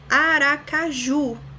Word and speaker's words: Aracaju: Aracaju, da mesma forma, ju é a última sílaba mais forte, então a palavra oxítona.